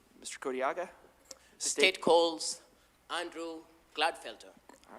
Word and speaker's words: Gladfelter: Uh, my name is Andrew Gladfelter. My first name is spelled A N D R E W.